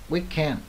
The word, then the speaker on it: weekend: Đấy, weekend là nhấn bần thứ hai nha. At the weekend nhấn bần thứ hai chứ không phải nhấn bần đầu nha.